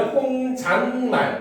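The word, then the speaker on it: 혼잣말: 자, 사이시옷이 니은으로 발음되는 추가적인 예로는 아랫니 혼잣만을 발들 수가 있겠군. 맞습니까? 틀립니까? 여기도 보면 아렌이 그렇죠. 그다음에 혼잔말 이렇게 발음되잖아요.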